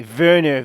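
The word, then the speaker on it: Wernher: grave placard of you before you pronounce the german it's a v verne von braun eva braun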